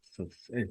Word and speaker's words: Saseddrick: It is spelled Saseddrick. Sir Cedric.